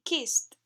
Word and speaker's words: kissed: Con los infinitivos que terminan en P, F, K o S, consonantes sordas excepto T, pronunciamos la terminación ed como una T. Ejemplos: looked y kissed.